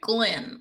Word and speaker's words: Glynn: He has to say Glenn, like that's how you say his name.